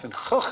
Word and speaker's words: Van Gogh: Thanks to our friends from the Dutch version of QI, we were able to give you the correct pronunciation of Van Gogh, the great man's name. Sounds like an outbreak of pneumonia in a frog pond.